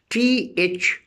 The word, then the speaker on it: though: And if I say though, T-H-O-U-G-H, though, in though again, G-H is silent.